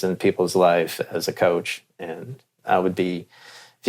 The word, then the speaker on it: Koch: spelled coach I mean it's pronounced coach spelled k and I